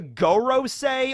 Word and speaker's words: Gorosei: that's not correct because go in japanese means number five and it's the five elder stars so i think they're